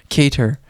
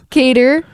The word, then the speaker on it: Kattar: spelled cater cater calvin kater yeah see you pronounce it when you sound okay i'm in linguistics right now that sounds like it would be spelt with a d but it's a double t that's a certain word